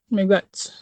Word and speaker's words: miigwech: Miigwech.